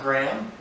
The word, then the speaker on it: Graham: Graham gr aham it's one syllable in the South where I'm from some people pronounce a to GRA M which is fine also it's pronounced either way so I'm fine with or mr.